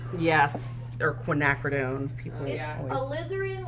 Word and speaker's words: alizarin: or quinacridone people yeah alizarin like slytherin not algerian like aryan all right so that's